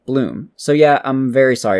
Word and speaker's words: Blum: It's not Steve Blum, it's Steve Bloom.